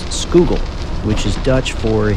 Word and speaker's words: Schuylkill: Pennsylvania Philadelphia and Frackville the river name is pronounced skoogle which is Dutch for a Hidden River before